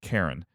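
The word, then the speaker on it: Charon: to anyway so uh when I when I was saying uh cheron and cheron uh cheron the the fairy men and Chiron the uh Centaur that everyone loves it's uh Kiran and Karen and which also sort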